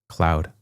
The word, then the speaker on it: Claude: It's pronounced code with an L. Claude.